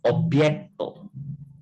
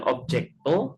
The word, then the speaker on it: objekto: Tablo estas objekto. Ingat huruf J dalam bahasa esperanto bacanya kayak huruf Y. Jadi itu bacanya bukan objekto tapi bacanya yang benar objekto.